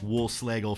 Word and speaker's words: Wohlschlegel: it and without further ado here is Wolfe Schlagel thank you so much wolf slagle for joining me today thanks great great to be here and a nice pronunciation of my last name good way it